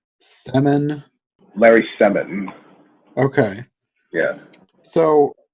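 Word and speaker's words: Semon: It looks like Sermon, except there's no R, so Semin.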